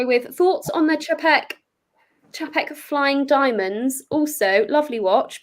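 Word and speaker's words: Czapek: Cha, like cha-cha. And now, like, all I have in my head is like the cha-cha dance. Pronunciation of Chapek? Yeah, like cha-cha, is what well, it's a CZ, right? Yeah. So, with my limited Polish, cha would be right.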